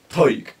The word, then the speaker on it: Tadhg: My name is Irish, man. Taig. It's spelled Tadhg.